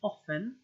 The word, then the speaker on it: often: T isn't always pronounced soften and often both have silent T's H you will find